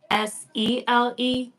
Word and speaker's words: Cele: I mean, it's spelled CELE. Like I don't get how I'm supposed to understand. Okay, so if it was spelled SELE, how would you pronounce it? SELE, Sele, And then CELE. Sele.